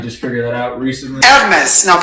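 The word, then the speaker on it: Hermès: Actually, excuse me, that is pronounced Hermes, not Hermes. We just figured that out recently. Hermes. Now pronounce that correctly. Hermes. Again. Hermes. Again. Hermes. Hermes. Hermes. There's an H. You don't pronounce.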